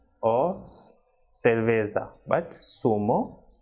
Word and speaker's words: zumo: be soft unlike English for example the person is not Zuma but it is sumo so like in English we say sir that is of the alphabet s so the same pronunciation of the same sound will be produced in Spanish for this alphabet that is Satan so the person is sumo Siragusa and cerveza she should not be Zumo Zaragoza Oh cerveza but sumo